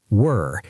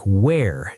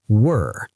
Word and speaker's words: were: And were rhymes with fur or her, were. It's a long sound. Make sure you don't say were like where, as in where are you? No, it's were.